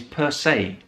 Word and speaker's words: per se: And another very common fixed expression that we use in English with per, which is also from Latin, is per se. Per se. So that's the pronunciation per se.